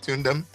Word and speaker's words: Tune Them: Did I pronounce that properly? Tune Them? Yeah, you got it right.